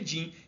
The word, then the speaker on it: DIN: que chama simbologia da Norma din é d n mas a gente pronuncia din que é uma Norma